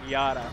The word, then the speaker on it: Jada: Because, you know, sometimes J-A-D-A is sure. Jada. Sometimes. Yeah. And Dom Hines responds with a picture of Jada being like, actually, it's like a Swedish thing. It's, you say it like Yada.